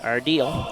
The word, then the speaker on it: Ardiel: The pronunciation, according to Selena's phonetic thing here, is Ardiel.